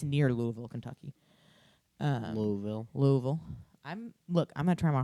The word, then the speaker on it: Louisville: Louisville. Louisville. I'm gonna try my hardest to say it correctly. It's not Louisville. Uh-huh. It's Louisville.